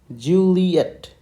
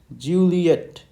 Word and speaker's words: Juliet: Okay, so this is your letter J, and its phonetic spelling will be JEW. Okay, you have to emphasize on this, LEE. Okay, and then ETT. Okay, so you have to emphasize on JW and ETT.